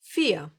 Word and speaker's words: vier: So here comes the simple V, and the best way to remember how to pronounce it is to remember how to say this number in English. 4. Yes, the Germans will most of the time pronounce this letter like you would pronounce the English F.